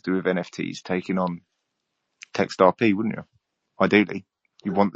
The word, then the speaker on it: TextRP: So we are text RP it rhymes with a certain cryptocurrency that I'm very fond of.